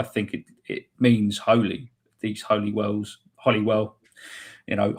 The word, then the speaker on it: Holywell: It's come from Claire Hughes, and she asked, why is Holyhead and Holywell pronounced as Holly, if you don't mind me asking?